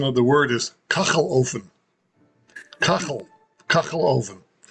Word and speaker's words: Kachelofen: The pronunciation of the word is kachelofen. Kachelofen. Kachelofen. No, kachel. It's very guttural.